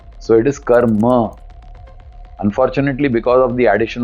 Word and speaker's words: karma: In Sanskrit, there is a halant ma and there is a full ma. So, it is karma.